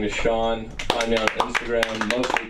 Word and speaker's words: Sean: d i s and Sean spelled Sean is spelled s e a n the Irish way despite my fully Middle